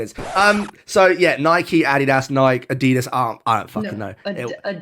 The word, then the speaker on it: adidas: does you say yes you say adidas don't you it's adidas it sounds like you're waving a cowboy hat above your head like I'll get those a D - shoes let's go adidas say with me it's